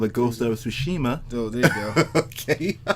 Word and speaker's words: Tsushima: Well, first of all, it's called the Ghost of Tsushima.